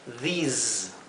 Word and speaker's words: these: Estas que están donde la S viene seguida por una vocal, la S se pronuncia como un zumbido, z, z, mientras que esta se pronuncia s, más como un silbido, como la S española. Por lo tanto, esto se pronunciaría this y esto se pronunciaría those. Y este de arriba sería these.